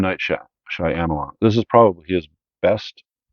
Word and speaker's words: Shyamalan: I always say his last name wrong. Shyamalan. M. Night Shyamalan.